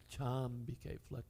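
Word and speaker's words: cāmbike: So instead of, for the meter, cha ambike, chambike flows much better.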